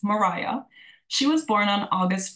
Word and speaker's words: Maria: So Maria, although it's spelled Maria, it's phonetically pronounced Mariah.